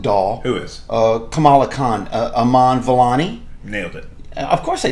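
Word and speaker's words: Iman Vellani: Kamala Khan, Aman Vellani.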